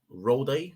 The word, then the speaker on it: Rolex: this I'm holding a rolled roll day is how you pronounce it mic for this one